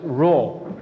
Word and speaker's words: Rho: another Greek letter okay another Greek letter is pronounced as Rho okay this is pronounced as wrong so Rho